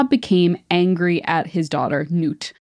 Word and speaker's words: Nut: So one day, Ra became angry at his daughter, Nut. Nut is spelled like nut, but it is it sounds like N-O-O-T.